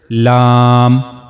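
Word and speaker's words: لام: The last part of the the very last part of the tongue will go connect to the gum of two top front teeth. And this is how you pronounce the letter lamb.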